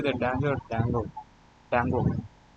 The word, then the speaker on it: Django: Dango. J is silent, I guess.